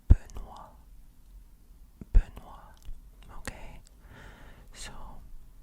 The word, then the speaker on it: Benoît: So, this T is silent. You do not say Benoit, Benoit. Okay? No. You don't say the T at all.